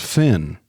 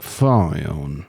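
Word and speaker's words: Fionn: build stars are F Finn I think it's pronounced Finn even though it looks like fion fun Finn Whitehead Barry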